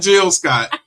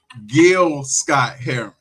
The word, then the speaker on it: Gil Scott-Heron: Not Jill Scott. Gil Scott Heron.